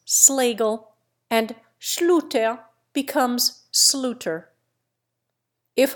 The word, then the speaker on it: Schlegel: So with SCH. Schneider becomes Snyder. Schlegel becomes Schlegel, and Schluter becomes Sluter.